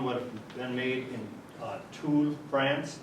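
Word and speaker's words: Tulle: have been made in tools France t-u-l-l-e pronounced tool we're a club butt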